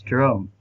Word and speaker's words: Jerome: It's Brother Jerome. He's just spelled with a J, but Oh, okay. it's Jerome.